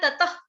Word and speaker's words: ततः: देखो इसको आपने बिल्कुल ओपन होके ततख नहीं बोलना है, ततख, ततख नहीं बोलना है। विसर्ग का उच्चारण मैंने क्या बताया? विसर्ग का मतलब एक तरीका होता है कि अपने सांस कैसे छोड़नी है उसका, ततः, ततः, ततः, इस तरह से, ततख, ततख, ऐसे ख नहीं बोलना, ततः, ततः, ततः कुरु, ततः कुरु।